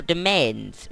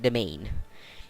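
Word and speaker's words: demesne: like all things now domains or it's actually pronounced domain slightly slightly different to main it's like domain it sounds like domain but it's B this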